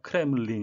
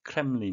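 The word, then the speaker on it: Kremlin: 발음에 유의 하셔야 겠는데요 크 램 블 린 이 아니고 크렘린 이 되겠습니다 러시아 정부를 지치 가는데요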